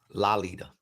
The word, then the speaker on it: Lolita: Lolita. I'm sorry. I only know that because the proper way to pronounce it is like lollipop.